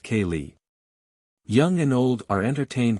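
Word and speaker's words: ceilidh: hold what they call a Kaye pronounced Kaye young and old are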